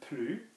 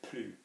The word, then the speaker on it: plus: I don't smoke anymore, je fume plus. So don't be thinking, okay, if I have ne and plus, then I'm not pronouncing the S.